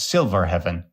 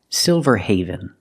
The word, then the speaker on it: Silverhaven: Cosmopolitan city known as silver heaven the word is not pronounced silverheaven it's pronounced silverhaven I've never heard of this city but Haven is a word in English it's not heaven it's Haven let's look at the